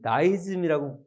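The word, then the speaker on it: deism: 이신론, 영어로 디즘, 다이즘이라고 읽기도 하고 디즘이라고 읽기도 하는데 D-E-I-S-M, 디즘이에요.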